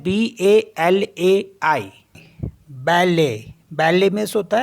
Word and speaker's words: balai: तो जैसे LAIT, तो इसको पढ़ते हम ले, ले, क्योंकि यहाँ पे टी साइलेंट होता है। तो ये हो गया ले, मिस होता है मिल्क। नेक्स्ट है BALAI, बैले, बैले मिस होता है ब्रूम।